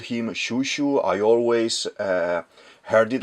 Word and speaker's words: Chouchou: H it's it's released as a Cho, but the pronunciation is Shushu. Okay. I always called him Shushu.